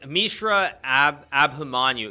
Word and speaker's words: Mishra Abhimanyu: It's Mishra Abhimanyu.